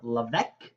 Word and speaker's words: Levesque: summary review of the book Ask by Ryan LC. That's how it's pronounced.